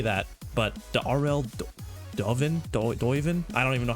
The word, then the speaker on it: Duiven: you pronounce this and he said the RL doen that's how you that's it's it's a Dutch apparently it's dutch for dove so listen I I